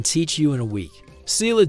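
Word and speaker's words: Ceilidh: Sila dancing pronounced kay because Gaelic spelling follows its own mysterious rules.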